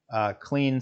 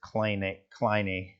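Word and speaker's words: Kleene: But essentially, and clean is really not the right way to pronounce that. The mathematician / computer scientist who came up with this didn't pronounce it that way, as Kleiny, but we're going to call it clean in here, or we'll probably just end up calling it star. Kleiny, something like that.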